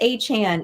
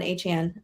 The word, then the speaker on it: Achane: You said A-Chan, even though Yeah. it, with the E makes it chain, which Yep. rolls off the tongue better, but whatever. It's not my name. Yeah, because it rhymes with the A part.